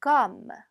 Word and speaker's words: comme: 얘도 마찬가지로 오기는 한데요. 발음을 오처럼 하는 게 아니라 어처럼 해주셔야죠. comme.